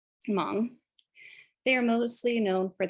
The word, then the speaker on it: Hmong: thailand and myanmar and the h is silent in this example hmong they are mostly known